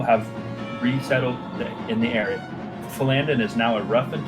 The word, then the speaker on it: Phandalin: I'm an asshole, it's Phandalin, not It is Phandalin. Phandalin. Yeah, I wasn't. It literally Phandalin. has the pronunciation right there.